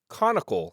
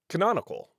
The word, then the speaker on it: canonical: I discovered I cannot pronounce the word canonical. I was saying conicle throughout the interview and meant canonical.